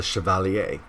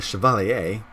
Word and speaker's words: Chevalier: champion I'm called the Chevalier the Chevalier I can pronounce that because my dad is French Canadian and I spent